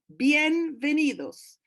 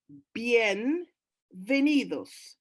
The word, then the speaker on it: bienvenidos: Bienvenidos, bienvenidos. So the V is pronounced as a V sound, bienvenidos.